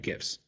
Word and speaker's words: GIF: on this i believe the gif is pronounced like github gist so i'm actually i